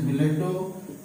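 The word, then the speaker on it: billet-doux: Pronunciation is biletto.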